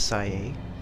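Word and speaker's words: Sae: amidst your obsession success her name is say that's how she pronounced it Madame say Nima a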